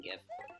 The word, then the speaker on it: GIF: that way, I'm saying GIF. And I'm like, thank you. The actual creator of the format came out and said it's supposed to be pronounced GIF. So I don't know what